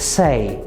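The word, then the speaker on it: says: ostatnim z nieregularnych czasowników on tak naprawdę nie jest nieregularne jeśli chodzi o ortografię lub pisownię ale jest nieregularne jeśli chodzi o wymowę jest to czasownik sein czyli powiedzieć w trzeciej osobie dodajemy eskę i brzmi to se jeżeli chcemy powiedzieć on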